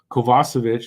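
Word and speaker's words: Kovacevic: so much room so yeah Harris co uh kovasovic that's how it's supposed to be pronounced um they could they could go at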